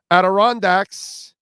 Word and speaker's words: Adirondacks: Samuel Loomis says, Adirondacks, that's the pronunciation.